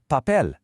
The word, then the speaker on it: papel: In Spanish, the P sound isn't an explosion of air. It's a starting point. Now try saying the word papel. Make that first pa really sharp and clean with no puff of air. Hear the difference? It's so much crisper.